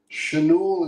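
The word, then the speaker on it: Schanuel: Chanul is how you pronounce it properly.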